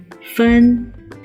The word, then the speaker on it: 芬: Okay, without further ado, let's begin with 芬 and 芳.